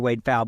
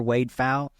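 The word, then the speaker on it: Wade Pfau: Wade Fowle, because at age 62, we had him on the show 2 weeks ago, and we did an entire show on reverse mortgages.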